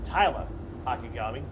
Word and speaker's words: Tyla Akagami: And let me kind of pronounce her name one more time. It's Tyla Akagami.